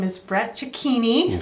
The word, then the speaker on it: Cecchini: His name is Brett Cecchini.